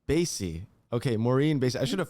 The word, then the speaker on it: Basye: say your last name baze stacey basie okay maureen i should